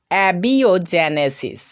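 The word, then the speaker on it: abiogenesis: এ বি আই ও, বিও, জিই, জে, এনই, নে, এসআইএস, সিস, অ্যাবিওজেনেসিস।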